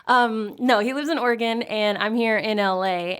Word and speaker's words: Oregon: No, that's the correct pronunciation. No, he lives in Oregon, and I'm here in LA, and we Skype every week, and he's the comic book guru.